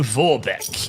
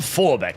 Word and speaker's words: Vorbeck: Leto von Vorbeck. Because remember, the Germans don't pronounce the V as an F.